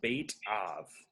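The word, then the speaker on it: בית אב: right what is the bait of um it's kind of a pronounced bait like fishing bait and then of a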